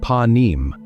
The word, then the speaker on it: panim: 33, you will find the term panim, pronounced pa-neem. The ending of the word is important.